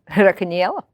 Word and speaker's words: Racaniello: Racaniello.